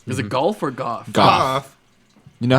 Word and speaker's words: Goff: Goff. You know how Jeff is spelled Goff?